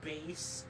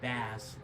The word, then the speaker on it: Bass: Anyway, Mega Man and base, or as I say it, Mega Man and Bass. Okay, that's not how you say it, but it is how it's spelled, which is weird.